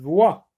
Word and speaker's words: voix: Une voix. Donc ici ne se prononce pas, j'entoure.